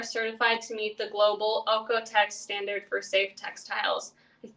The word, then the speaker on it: OEKO-TEX: And all of their materials are certified to meet the global OEKO-TEX standard for safe textiles. I think I'm pronouncing that right.